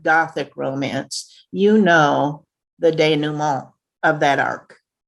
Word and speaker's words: denouement: romance you know the denouement of that arc when i first read the word danumo out loud my ex-husband laughed at my mispronunciation i include it here